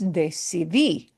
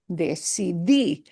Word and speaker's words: decidí: And the past tense for yo is decidí, decidí. And it's got an accent on the end, see?